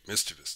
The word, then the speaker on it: mischievous: yeah miss mischievous yet mischievous that's how you say it hi i can talk